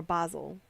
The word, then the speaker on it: Basel: Basil 1791. Why Basil? Or Basel, depending on your pronunciation and name of origin.